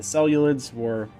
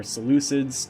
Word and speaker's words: Seleucids: kind of nations of the time, but the Seleucids or Seleucids, depending on how you want to pronounce it, were the empire of the East.